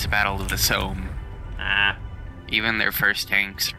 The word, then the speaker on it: Somme: It's pronounced a Somme, but, you know. More like the Psalms.